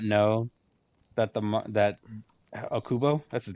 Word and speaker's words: Okubo: You know, I did not know that the that Okubo, that's his name, right?